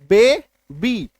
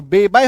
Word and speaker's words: baby: आपको क्लियर होगा, जैसे कि BABY, बे बी, दो बार में उच्चारण आ रहा है, वाई लास्ट में है ना। वाई का अपना नॉर्मल साउंड क्या होता है? य, तो बेबाय हो जाना चाहिए था, BABY बेबाय, ऐसा हो